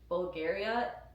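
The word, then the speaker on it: Bvlgari: If you're in a veranda, they are Bulgaria.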